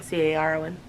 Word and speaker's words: Caron: Is that how you say it, Caron? C-A-R-O-N, Caron, whatever.